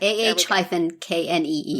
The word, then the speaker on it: Ani: according to the blog on their website it's pronounced ani ok aah - kne oh okay so thank you for checking know